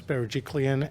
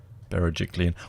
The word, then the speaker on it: Berejiklian: Well, actually, I want to praise New South Wales and the leadership of Gladys Berejiklian and her treasurer, Dominic Berejiklian, that's how you say her name. Bloody hell, all these articles. Berejiklian.